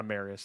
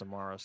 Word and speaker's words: Amarius: Not Amarius. It's Amarus. That's how you pronounce it.